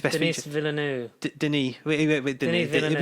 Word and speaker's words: Denis: Denis Villeneuve. You spell it like Dennis, but it's Denis.